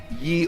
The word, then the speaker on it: ye: Lionel we are in the old talbot in ye oldie talbot and which would have been pronounced the old the old i think back in the day pronunciation but medieval pronunciation police intervening here yeah